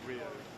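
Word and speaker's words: Ryo: It's sort of more pronounced Rio.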